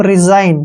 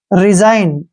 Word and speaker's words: resign: और यहाँ पर आपने ध्यान करना है कि जी का उच्चारण हम नहीं करेंगे, जी यहाँ पे साइलेंट रहेगा, क्योंकि जब भी कभी